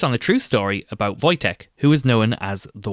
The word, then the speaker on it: Wojtek: Over the 2024 Christmas period, I came across a short animated film called A Bear called Voytech. That's spelled W O J T E K.